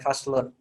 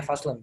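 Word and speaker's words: فصل: Nah, sama dengan yang di atas ini ya, faslun. Kita bacanya faslun, bukan faslu. Ya.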